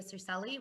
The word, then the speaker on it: Circelli: Like introduced, my name is Circelli. Wonderful pronunciation there, Kaylee. That was the Italian way of saying it, so thank you.